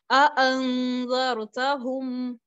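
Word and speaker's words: أأنذرتهم: कि दो हमजा कत्ती, मैंने जब दोनों यानी इस आयत को वसल में प्रोनाउंस किया तो मैंने इस लफ्ज के दोनों हमजास को प्रोनाउंस किया, दोनों हमजों को मैंने प्रोनाउंस किया है। अअंज़रतहुम, अअंज़रतहुम, मैंने इनको अंज़रतहुम या अंज़रतहुम नहीं पढ़ा, बल्कि मैंने दोनों की आवाज को अलहदगी में पढ़ा।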